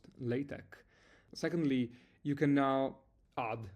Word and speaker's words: LaTeX: So, first of all I recently discovered this is pronounced LA-TEK.